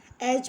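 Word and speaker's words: edge: ई डी जी ई ई डी जी ई को हम एच पढ़ते हैं इसमें डी साइलेंट है और एटस की हिंदी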